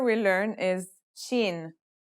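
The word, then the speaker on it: ش: letter we'll learn is Sheen this one is pronounced just like the English in the word shovel this one is very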